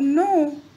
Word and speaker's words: know: cat rhymes with rat Crow rhymes with no so these words are